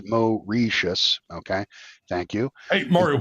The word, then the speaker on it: Mauritius: Um he said that the British base he said it's pronounced Mo Reius.